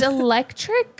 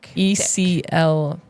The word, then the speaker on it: electric: Is electric spelled differently for you? Like when Oh, he yeah. talks about electricity, Electric. So it is spelled wrong. So he's saying it wrong. electric. Yeah, you're right. Eclectic.